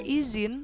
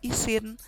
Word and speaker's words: izin: Fonem Z pada kata izin seharusnya tidak dilafalkan S atau isin, atau juga J atau izin.